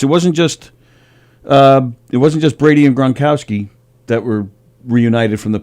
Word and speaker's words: Gronkowski: Gronkowski.